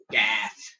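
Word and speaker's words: Gaath: I will go with the one I can pronounce the best. Gath.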